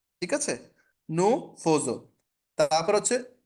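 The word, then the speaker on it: nous faisons: ঠিক আছে আচ্ছা অন আচ্ছা এটার উচ্চারণটা একটু বলে দেই একটুখানি ডিফারেন্ট সো হচ্ছে নু ফোজো হাইফাই নজ নুফজো বাট নরমালি এটা আমি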